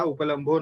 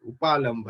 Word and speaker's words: उपालंभ: अथ उपलम्बाः उपलम्भो नाम हेतुर्दोष वचनम यथा पूर्वम अहेतो हेत्वाभास व्याख्याता। तो हेतु में दोष निकालना, इसको ही क्या कहते हैं? उपलम्भ कहते हैं। उपालंभ एक्चुअल प्रोनाउंसिएशन शुड बी।